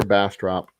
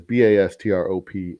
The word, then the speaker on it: Bastrop: It is Bastrop, and it is called Bastrop. You pronounce the op.